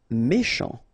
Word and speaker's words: méchant: Méchant. Final T not pronounced. C-H together, sh. Méchant.